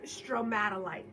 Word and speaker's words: stromatolite: This is a, I believe the correct way to say it is stromatolite.